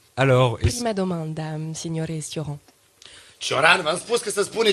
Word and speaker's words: Cioran: Bună seara toată lumea, dar aș vrea să vă spun că se spune Cioran. Cioran. Ça se prononce Cioran.